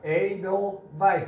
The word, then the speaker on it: Edelweiss: Edelweiss is how it's pronounced.